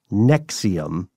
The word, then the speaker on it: NXIVM: describe Nexium itself uh it's spelled NX I VM but it's pronounced Nexium yes and and what